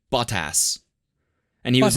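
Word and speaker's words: Bottas: telling me about his his last name is ball toss it's be ot TAS but like pronounced in a British accent it's like bought ass and he was like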